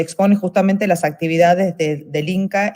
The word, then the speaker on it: INCCA: Y fundó el INCCAF, que no sé si esa sigla se pronuncia de alguna forma o se deletrea. INCA. INCA, ok.